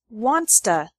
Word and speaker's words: wants to: to come with us wants to becomes wansta he wants to stay home she